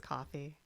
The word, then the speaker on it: Ko-fi: I think it's coffee. Oh, okay. Okay. Does someone else want to say it? No. No. It's K-O-F-I. I so assumed it was meant to sound like coffee, but you said it Yeah.